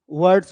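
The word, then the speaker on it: words: पढ़ते हैं वर्ड्स, वर्ड्स, तो र पूरा पढ़ा नहीं जाता, वर्ड वर्ड वर र नहीं, वर्ड्स, वर्ड्स। तो र क्या है, वो बाहर पूरा निकल नहीं पाता, स्लैड हो जाता है बिल्कुल। तो इसको पूरा प्रोनाउंसिएशन नहीं करते।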